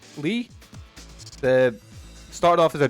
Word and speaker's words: Lei: but not quite great Le or is it how do you say it it's l e i lee the started off as